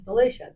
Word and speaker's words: Delicia: just like you know my last name is Delicia people call it you know you know